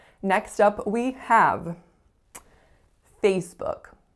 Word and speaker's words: Facebook: next up we have facebook facebook two syllables the strongest syllable is the first and that's not usually the part that people have difficulty with it's that lack foul in book book so really really often